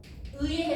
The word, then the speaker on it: 의: 저는 원칙에 따라서 의 정확하게 발음한 거였어요. 그러나 얘네 둘에 따라서 다르게 발음할 수 있는 애들도 있어요. 잡아낼 수 있죠? 누구예요? 하나, 둘, 셋. 얘 4번째 나왔는데? 2번째 음절 뒤라고 그랬는데 얘는 무려 4번째예요. 그럼 얘는 의도 되고 뭐도 돼? 이도 돼.